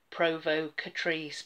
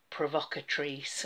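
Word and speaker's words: Provocatrice: to correct my pronunciation when I first opened this Polish I called it the limited edition Provo Catrice but actually it's obviously provocate Reis so I'm glad I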